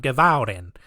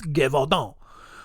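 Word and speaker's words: Gévaudan: And the entire region of Gevaudan, I gotta say it like that, otherwise it's just gonna sound Gevaudan. That's how I'm gonna say it. No, it's Gevaudan.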